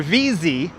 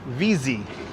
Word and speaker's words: Vesey: Reverend William Vesey, or VZ. That's how you pronounce it. Reverend William VZ.